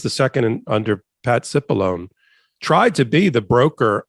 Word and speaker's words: Cipollone: yeah yeah well we there's a difference of opinion on how to pronounce his name but yes you can call it chipolony here no no not sure um okay all right well we'll leave it at that I see it pronounced cipollone by CNN but okay it doesn't matter